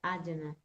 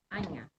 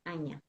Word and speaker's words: Ajna: Mas a pronúncia correta é Anya. Porque É. não existe o J é som de NH. Né? Então a gente fala Anya.